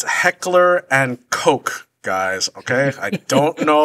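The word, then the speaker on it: Heckler & Koch: the name so stop it's a long o not a short o right it's it's it's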